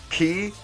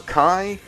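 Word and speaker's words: χ: you have kingdom hearts key or chi it's like an x and an i but you're supposed to pronounce it like key or kai or something like that and that's like a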